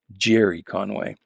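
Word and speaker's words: Gerry Conway: conway i should say gary's how i pronounced it when i was a kid but uh it's only within the last year or so i i realized i've been pronouncing that my whole life the wrong way it's actually jerry conway uh with art by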